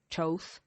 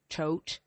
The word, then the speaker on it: Thoth: Egyptians called this energy Thoth or Thoth. Or some people you might see as Thoth. Some people pronounce it Thoth. I've seen it as Thoth, Toth, Tote.